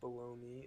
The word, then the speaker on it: bologna: I don't understand why it's pronounced baloney. It literally looks like baloney. Bologna.